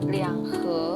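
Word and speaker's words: 两盒: Liang he bacanya liang he bukan he.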